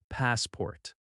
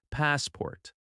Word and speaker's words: passport: The first word is passport. Listen carefully. Passport. The stress is on the first syllable. Pass port. That first part is stronger and a little longer. The second syllable is softer. Passport.